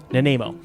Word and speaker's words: Nanaimo: Nanaimo is how I'll pronounce this. Naimo. Nanaimo.